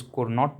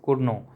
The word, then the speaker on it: Cournot: Some people pronounce is Cournot but it is pronounced as Cournot.